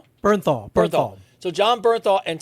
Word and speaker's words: Bernthal: Burmthal. Bernthal.